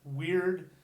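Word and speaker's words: wyrd: We spell it differently, but that's exactly how it was pronounced. The Y sound is an U, weird, weird.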